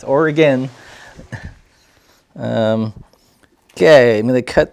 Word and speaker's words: Oregon: the blasts when the people from different states would pronounce it Oregon it's like now we're still here it's or again okay I'm going to